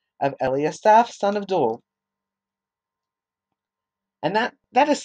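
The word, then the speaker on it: Deuel: was the offering of Elias Tov son of dual and that that is spelled de UEL on the seventh day was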